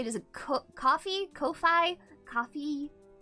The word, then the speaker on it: Ko-fi: Is it coffee, Ko-fi, coffee? Coffee, but I mean, it looks like a coffee cup.